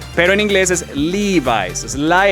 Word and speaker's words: Levi's: Exacto, en inglés se dice Levi's. Mucha gente dice Levi's, pero en inglés es Levi's.